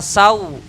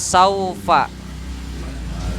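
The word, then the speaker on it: سوف: walasaufa berarti Sin walasal bacanya Ya Sau bukan Sau wala SAO wala sawfa Ai Ai jangan ae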